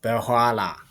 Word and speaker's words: በኋላ: letter family እሺ ጎበዝ በኋላ ሆ ሳይሆን ኋ በኋላ perfect. Pronounce it always like this.